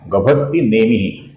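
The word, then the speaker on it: गभस्तिनेमिः: नाम है गभस्ति नेमिह यहां पर स्त ह्रस्व है मी भी ह्रस्व है तो इनका हमें लघु ह्रस्व ही उच्चारण करना है। नेमिह का जो विसर्ग है इसके आगे सत्वस्था का स आया हुआ है। तो इसलिए विसर्ग की जगह पर हम हल्का सा स अपूर्ण स ऐसा उच्चारण करते हैं।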